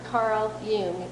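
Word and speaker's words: Carl Jung: you to your inner heart in fact Dr Carl Yung as it's pronounced by The yion Institute and I have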